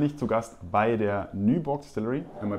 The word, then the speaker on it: Nyborg: Heute bin ich zu Gast bei der Nyborg Distillery. Am I pronouncing that correctly?